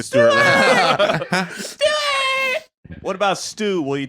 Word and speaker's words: Stuart: coffee shop or whatever I have to say it twice and then give up and pronounce it as close to an American way as possible so I'd go Stuart Stewart because if you heard